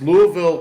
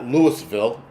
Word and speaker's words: Louisville: It's Louisville, Kentucky, right? It's not Lewisville.